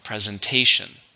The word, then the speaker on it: presentation: something it's countable noun how many syllables presentation for with a stress in the third syllable your presentation is worth